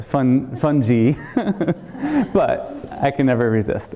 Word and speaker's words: fungi: you're not welcome and the mushroom says no fungi yeah actually that's a bad joke for in many ways one is that it's not actually pronounced that way it's fun fun G but I can never resist anyway so fun